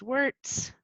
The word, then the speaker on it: Weerts: use she her pronouns my last name is wurtz it's spelled differently than it's pronounced kind of i'm based in